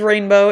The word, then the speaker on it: Ranebo: more time absolutely yeah so my name is Rainbow it's spelled r-a-n-e-b-o um I just released my website